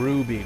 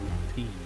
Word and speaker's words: rupees: I keep saying ruby, but it should probably be pronounced rupees. isn't it? It's E, not B.